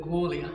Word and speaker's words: Gwalia: All right, well, the locals call it Gwalia. Oh, and it actually tells you on the wall how you should pronounce it, so I'm sorry about that.